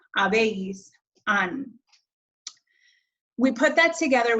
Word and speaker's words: habéis: Notice again, and hopefully you know this by now, but that H in Spanish is silent. He, has, ha, hemos, habéis, han.